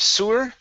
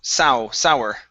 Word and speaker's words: sour: good uh next is the word sour instead of sewer it's au sour sour milk very good um